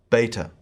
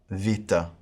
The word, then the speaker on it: beta: then I will go through using the modern pronunciation. So, first, alpha, beta, gamma, delta, epsilon, zeta, eta, theta, iota, kappa,